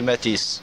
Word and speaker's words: Matisse: Henri Matisse.